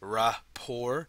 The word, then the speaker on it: rapport: It's rapport. You don't pronounce the T, okay?